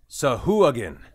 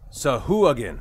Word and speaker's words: Sahuagin: Okay, everyone, listen in. Sahuagin. Wow. I've been saying that wrong. Sahuagin. Sahuagin.